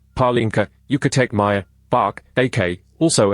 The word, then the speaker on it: Palenque: Palenque, Spanish pronunciation Palenque, Yucatec Maya B'aak AK,